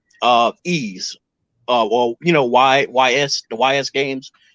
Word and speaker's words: Ys: if it, I guess you say like how Ease, well, YS, the YS games, but it's pronounced Ease.